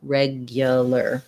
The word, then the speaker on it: regular: these words is that there's a hidden sound that we don't really spell here it's not regular but re or regular but regular regular so the ipa would be first syllable stress reg the glide ya regia because this letter u is unstressed it's going to be a schwa here and then the ar says an er sound so it sounds like